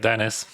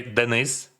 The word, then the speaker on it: Denis: Dennis, just like Dennis. Dennis Nemenis. This is a Greek name. Just like it is the Ukrainian transcription, and we say Denis. Denis, Denis. But like on English, it sounds like a Dennis, right?